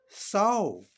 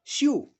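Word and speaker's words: sew: with s e w soul s e w soul here because we say so not shu therefore acw sau rhymes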